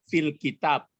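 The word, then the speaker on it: في الكتاب: Kalau huruf bulan maka muncul lamnya, fil kitab.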